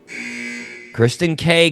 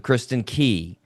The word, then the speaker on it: Kristin Key: Kristen K came out instead of Kristen Key.